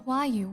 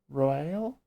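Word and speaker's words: Roaille: To think that Flame Marshal Huayu was the Garlean agent. I know not what to say. I'm sorry, what? Okay, so I've been pronouncing her name Royale, as in how it's written.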